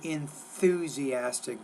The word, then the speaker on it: enthusiastic: Say enthusiastic. Don't forget, get that TH between your teeth.